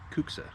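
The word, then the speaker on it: kuksa: cuxa cuxa a cuxa i think that's how you say it k-u-k-s-a kooksa uh so anyways a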